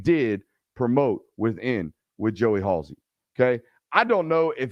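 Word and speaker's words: Halzle: in Joey Halsey it's spelled funny but it's pronounced Halsey uh a guy in Joey Halsey who's been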